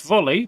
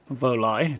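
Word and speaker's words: Volii: Yeah, it looks like this one also left volley, presumably coming here. Voli, depending on how you want to pronounce it. Presumably the second one is apparently correct.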